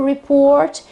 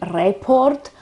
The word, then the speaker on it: report: a verb so to report but the accent is always on on the second syllable so it's always on the o in Italian many people say report or something like that